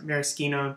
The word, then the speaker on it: maraschino: is called luxardo makes maraschino cherries or maraschino depends on how you pronounce it or even better